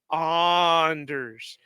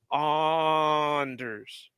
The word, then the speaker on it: Anders: and I hear him he's always calling him Anders no it's Anders oners like I said he has earned the right to tell us how to pronounce his name and for it to